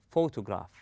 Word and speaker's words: photograph: rest of the word we say photograph we stress on the first syllable then we go easy